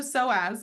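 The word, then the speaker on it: psoas: So, the soaz um and for anybody who wants to look it up, it's spelled P S O A S U P SoAZ.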